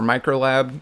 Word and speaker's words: ulab: gonna start out with some ulab updates or micro lab as the way it's pronounced and then once those